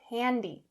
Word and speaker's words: handy: in my mouth now people might not notice if you use the s sound and say handy but to build good pronunciation habits make sure you're saying handy handy again a wide mouth handy come in handy